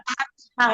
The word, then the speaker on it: fathah: Ya, Huruf nah, lin patah dibaca fathah ya, bacanya bukan patah ya, fathah.